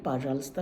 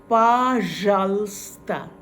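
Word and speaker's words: пожалуйста: আপনাকে যদি কেউ স্পাসিবা বলে আপনাকে সঙ্গে সঙ্গে পাজালস্তা টা বলতে হবে পাজাল এই যে রে এই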